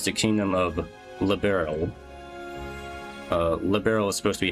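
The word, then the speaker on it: Liberl: Uh Liberal is supposed to be how it's pronounced. Some they for some reason here they're pronouncing as liberal with three syllables. It's supposed to be a two syllable word. Liberal, not three syllables.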